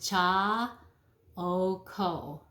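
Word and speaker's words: Chaokoh: I've been using this one for a very long time, and let me pronounce it, cha o ko.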